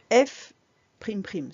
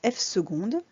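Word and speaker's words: f″: seconde est négatif donc f primes prime se dit pas du tout comme ça ça se prononce f secondes et c'est la dérive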